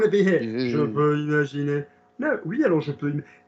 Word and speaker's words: imaginer: Je peux imaginer tu étais.